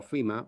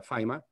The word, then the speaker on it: Fyma: burns the founder of fima or fema or fema depending on where you come from uh the company has been pronounced differently but we prefer uh fima so that's a sas